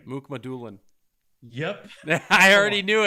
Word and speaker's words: Mukhamadulin: And I'm going to spell the name first, see if you can pronounce Oh, it. Jesus. So first name is Shakir. Shakir. Last name. Mukmadulin.